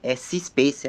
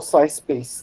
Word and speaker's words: SciSpace: outro auxiliar que eu utilizei foi o Space, C-Space, é uma coisa assim, que é porque como é em inglês, fica difícil de eu falar a forma, pronúncia correta. Então, o tema... É o SciSpace, Daniel.